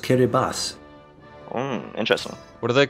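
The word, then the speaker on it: Kiribati: to add you know that that's pronounced kir Bas interesting what are they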